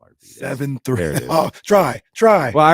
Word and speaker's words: Arvydas: Arvidas.